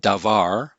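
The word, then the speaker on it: דבר: so here's an example we have the hebrew word davar which means word can also mean matter or thing and this is going to have two syllables and so the first syllable is an open syllable we see it has a consonant dalet and a vowel comets and then the second syllable is a closed syllable it has consonant bait vowel patak and then consonant race so we see consonant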